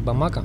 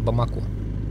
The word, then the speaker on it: Бамако: На самом деле, столица Мали называется не Бамака, а Бамако.